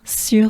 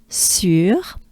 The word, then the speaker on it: sur: Then we have sur. So now this is the trickiest, I believe, French sound to pronounce. U.